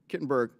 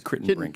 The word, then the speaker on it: Kittenbrink: Kittenberg, sorry for mispronouncing your name. It's my life's burden, Congress. It's Kittenbrink, actually.